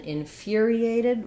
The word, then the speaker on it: infuriated: about the word infuriated so in infuriated our stress is on the fear syllable like the word fury this is another example of a u that has a gliding yes sound in fear fear um you can say